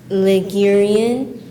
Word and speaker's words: Ligurian: Are there any alternate pronunciations? No. Ligurian.